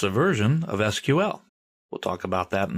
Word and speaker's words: SQL: Well, it's a version of SQL. We'll talk about that in a minute. People in the know don't say MySQL, they say MySQL. That's generally how it's pronounced. And SQL is usually pronounced SQL.